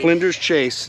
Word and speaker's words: Flinders Chase: Flinders Chase National Park, right? Did I pronounce that right?